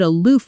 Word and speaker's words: aloof: I found her a bit aloof at first, but once I got to know her, she was actually very warm. Pronunciation: uh loof aloof Notice the O sound, like the word food. a-loof In a sentence: He